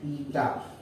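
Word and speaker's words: η: দেখ সান্দ্রতাঙ্ক বা যেটাকে আমরা ইটা দ্বারা প্রকাশ করছি, এটার উচ্চারণ হচ্ছে ইটা। ইটা ইটা দ্বারা আমরা সান্দ্রতাঙ্ককে প্রকাশ করি।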